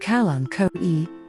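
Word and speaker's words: Kalanchoe: calanco blossfeldiana hertz gardens calancos pronounced calanco e are a type of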